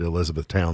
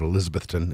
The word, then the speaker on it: Elizabethton: Tri-Cities area of Tennessee they don't call it Elizabeth Town they call it Elizabethton even though it's spelled the same way as we spell ours and they were headed